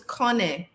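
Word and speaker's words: Konneh: the noun is Kane k-o-n-n-e-h to pronounce it k-o-n-con hyphen n e h and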